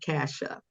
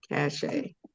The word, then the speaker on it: Cache: So it's long A, Cache, not Kasha. Cache.